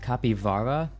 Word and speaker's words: capybara: LD could pronounce that oh it's pronounced copy Vara e h what ink wait what language is it native where do capitals originate South America oh Portuguese Portuguese pronunciation how to pronounce capybara